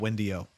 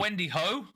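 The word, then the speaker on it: Wendy O: you find out about Wendy-O? I actually just learned her name from this conversation. I recognize her face. I've seen her talk, speak Wait, before. Wait, it's not Wendy-Ho? the H is silent, Walton.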